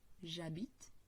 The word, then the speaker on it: j'habite: la première personne du singulier on l'aura donc j'habite on ne prononce pas le donc on habite elle habite